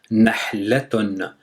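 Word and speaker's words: نحلة: Donc on a la première syllabe, ce sera nah, après la, après ton. Donc ça fait 3 syllabes, nahlatun.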